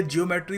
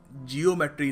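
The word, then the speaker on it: geometry: जियोमेट्री नहीं है। ज्योमेट्री है। बहुत ही खूबसूरत शब्द है। बोलने में भी मजा आता है। तो सही तरीके से प्रोनाउंस करिए ना।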